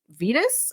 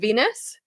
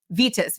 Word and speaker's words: Vitus: But they also thought it was a way to avoid being punished by Saint Vitus. I don't know how to pronounce Latin. Saint Venus? Vitus, Vitus.